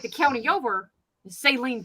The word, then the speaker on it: Saline: like the county over saline county s-a-l-i-n-e it's celine according to the people who live there what kansas get your